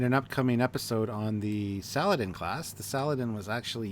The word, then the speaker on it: Saladin: It's pronounced Saladin. Saladin. Well, Saladin is what I call it. Always have, always will. But Saladin.